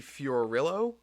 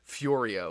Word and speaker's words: Fiorillo: short film with Jackie Fiorillo. I got her pronunciation yesterday. I wanted to pronounce it Fiorio, which I thought would be really cool. But Jackie Fiorio, Rillo, she goes to DeSales